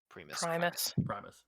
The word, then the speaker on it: Primus: Primus. Yes, that's the word. The No, priest Connor- cast the spell. Connor and me both put the emphasis on the wrong syllable.